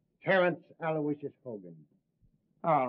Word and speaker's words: Aloysius: Terence Aloysius Hogan.